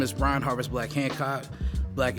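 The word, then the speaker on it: Blaque: Brian Harvest black Hancock black is spelled b a quu e I am the lead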